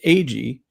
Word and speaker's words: Agee: Also, other former CIA person personnel like Victor Marchetti, John Marks, um and Philip It's pronounced Agee.